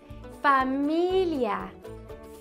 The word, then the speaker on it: familia: Family in Spanish is familia.